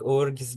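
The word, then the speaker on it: UFRGS: R yeah ufr GS Ah okay but we pronounce it like Urus because it's a lot more sound than orus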